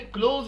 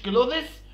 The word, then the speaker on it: clothes: ونلاحظ إن الملابس بتتنطق كلوز يا جماعة، كلوز مش كلوذس، يعني محدش يقول لي كلوذس.